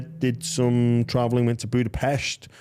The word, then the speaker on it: Budapest: some traveling went to Budapest which is Budapest budapes yeah that's how they say it is say yeah it's not it's it's it's a thing about pronunciation of the Hungarian language which I uh Budapest budapes yeah it's like balona balona um there's a pronunciation of yeah by the by the locals um so I'm just